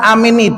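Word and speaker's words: آمين: Mengatakan amin itu bacanya seperti mad tabi'i, 2 harokat. Amin, 2 harokat.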